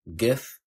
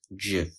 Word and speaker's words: GIF: GIF the primary pronunciation of Mariam Webster is GIF the secondary pronunciation is JF the primary pronunciation of New Oxford American Dictionary